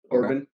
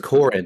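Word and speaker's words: Corrin: but it's Emma Corin Corbin no it's Corin there's no B yeah I don't know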